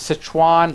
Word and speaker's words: Sichuan: hesitate to correct me I believe is Sichuan like Citroen Basset Hwan was found to